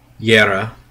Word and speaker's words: Jera: Yera, which is Jera with a apostrophe going up off the A.